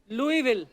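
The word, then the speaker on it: Louisville: of Greg Fisher mayor of लई Lewis विले लुई विल तो एस क्यों फिर लिखा है मेरे को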